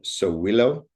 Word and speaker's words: Sowilo: And for the letter S, uh Sowilo would be the pronunciation of the symbol.